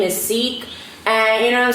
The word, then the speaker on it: Seec: queens get the money please stop mispronouncing my name stop saying sec cease it's seek you know i don't